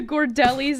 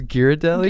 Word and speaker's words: Ghirardelli: Like the gordellis that are filled with caramel and then there's like a chocolate shell.